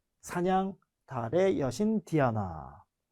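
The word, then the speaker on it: Diana: 숲 사냥 달의 여신 디아나 뭐 디아나 아고 발음하지만 우리가 왜 서양 이름 중에 많이 쓰는 이름 중에 다이너라이브 발음하면 다이너가 되는 거고 라틴어 원래 발음대로 하면 디아나가 되는 거고 어 아르테미스는 이름도 있죠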